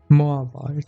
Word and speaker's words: Moabite: How do you pronounce it? Moabite.